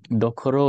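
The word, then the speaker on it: どころ: So dokoro is the same as tokoro, but it's Yes. just for easier pronunciation.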